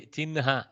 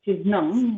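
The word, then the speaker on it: चिह्न: So instead of Chihna, we Chinha. Yeah, we are habituated, pronouncing it as Chihnam, but I think Excellent.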